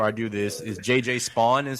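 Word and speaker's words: Spaun: Is JJ Spawn is how you say his last name. Spawn.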